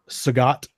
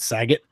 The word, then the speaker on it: Sagat: You could be Sagat. I think isn't that how you say it? I always said Saget. Bob Saget. Yeah, like Bob Saget. Like Bob Saget. But I think it's Sagat in there.